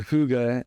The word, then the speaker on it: hygge: And so, and I will say for the viewers watching this that the word Whoggga is spelled Hygge.